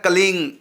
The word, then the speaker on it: क्लीं: यदि केवल कलीम है, इसका उच्चारण होगा कलीम, कलीम, कलीम, कलीम, इस प्रकार से आप बोलेंगे। यदि आप कलीम के साथ दूसरा शब्द तुरंत जोड़ना चाहेंगे, जैसे कलिंग कृष्णाय नमः, का जोड़ दिया हमने साथ में और तुरंत जोड़ दिया उच्चारण में, मैंने कलीम पूरा बोला और उसके तुरंत बाद का बोल दिया, अब ये हो जाएगा कलिंग।